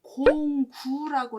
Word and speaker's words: 孔丘: 이제 공자의 이름은 공구라고 읽고요.